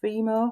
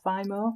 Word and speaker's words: FIMO: And I don't know if you can see, I made them from Fimo or Fimo, depending how you say it, and they're just flowers.